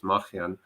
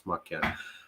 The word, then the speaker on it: Makhyan: So in Armenian, we have the letter Ch, which is not available in English. So the actual last name is Makhyan, but in English I'll pronounce Makhyan.